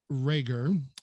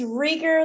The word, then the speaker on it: Reger: my dear friend rager am i pronouncing your last name right it's rigor like eager but it is any